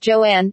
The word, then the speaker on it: Joan: Crawford later said that she wanted her first name to be pronounced Joanne and that she hated